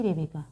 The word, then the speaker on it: Rebeka: আমার নামে আরও একজনের চ্যানেল রয়েছেন, উনি সম্ভবত US অধিবাসী, তো ওনার নামের স্পেলিংটা শুধু আলাদা, বাট একই উচ্চারণ, একই, রেবেকা। ওকে।